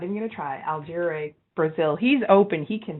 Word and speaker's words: Porto Alegre: medicine degree dr cardoza so that would be porto alegre thank you so beautiful when you say it